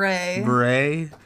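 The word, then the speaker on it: Bure: Cameron breay Brewery bur I think it's ber beray it's spelled b r e not b e r e t her husband's Russian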